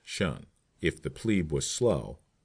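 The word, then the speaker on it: 'shun: the command, shun, squad, abbreviated from the attention and pronounced shun.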